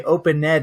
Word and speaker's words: opened: And to review some ED pronunciation in English, I do not say opened up. That is incorrect. I say opened up. Opened. It's like the N goes to the D.